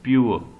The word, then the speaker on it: pure: It is not called pure, it is pure. R is silent here.